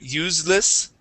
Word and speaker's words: useless: okay and the uh the first s in the word useless is a voiceless s okay um you had said useless okay use useless try that useless there you go